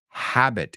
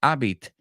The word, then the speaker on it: habit: word with me habit habit it's not Abit it's habit say it with me Habit